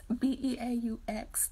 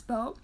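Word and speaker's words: Beaux: B-E-A-U-X. Like, I always spell his name out instead of saying it's Beau.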